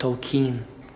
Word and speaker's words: Tolkien: new man told kind it's cancer what it's pronounced tokine so last night I was very drunk that's